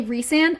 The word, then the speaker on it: Rhysand: Like, for example, in ACOTAR, you guys say Rhysand. I call Rhysand Rysand.